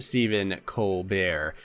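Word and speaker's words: Stephen Colbert: letting me know that it is pronounced Stephen Co bear uh yep I was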